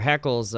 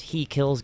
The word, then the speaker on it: HeKillz: LZ so it's he kills which he still pronounced it heckles though yes yeah I get that a lot like who's this he kills guy he kills my friend my my first